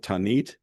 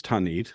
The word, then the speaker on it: Tanit: The goddess Tanit, likely pronounced Tinit or Tinit, something like that in antiquity, was the